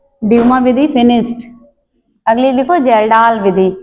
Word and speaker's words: Kjeldahl: जलडा विधि।